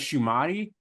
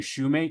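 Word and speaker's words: Shumate: I always thought it was Shumati, but I keep hearing, I think people out west saying Shoemate, so I'm pretty sure that's the right pronunciation.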